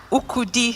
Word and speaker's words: Ukudi: Ukudi, so you were very close to it. Ukudi. Yes. Okay. It's like kudi, like monies.